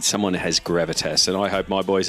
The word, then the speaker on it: Gravitas: League of Legends team in the OPL at Gravitas.